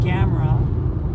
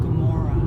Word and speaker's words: Gomorrah: i mean it's like it's not saddam and gamra it's sodom sodom like sodomy yeah it's like that sodom and gomorrah yeah it's like you